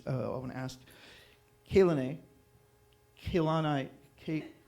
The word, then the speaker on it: Kehlani: Kehlani. All the E's are pronounced the same.